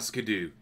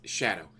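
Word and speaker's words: Scadu: went through the castle it's not scoo it's Shadow they're using the very very old English spelling of Shadow which I didn't know I pronounced the same way but because I'm a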